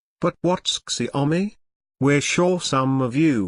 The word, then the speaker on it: Xiaomi: be looking at it for a while it's pronounced shw me but what's xiaomi we're sure some of you will have come